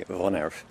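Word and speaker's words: woonerf: I'm representing the Oaklands Rise Vonerf, which is spelt W-O-O-N-E-R-F, but actually pronounced the Dutch way Vonerf.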